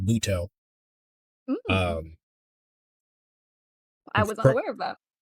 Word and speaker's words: Muto: There's Yugi, and I mean little Yugi Moto, which is actually the wrong way to say his name. Everyone says Yugi Moto, but his name's pronounced Muto.